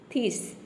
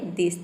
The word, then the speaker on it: this: अब यहां पे मैं आपने पहले प्रोनाउंस किया थी थिस टी एच को थ प्रोनाउंस किया थिस थिस तो जब प्रोनाउंस करेंगे तो आपको पता चलेगा थिस नाम का कोई प्रोनंसिएशन नहीं होता है कोई वर्ड नहीं होता है ये होता है दिस तब आपने रखा द